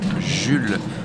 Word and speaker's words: Jules: lèverait quérin sachez que je m'appelle jules vous prononcez jul bajule marie que vous